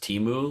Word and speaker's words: Temu: A retail establishment called, I think it's pronounced Temu, maybe?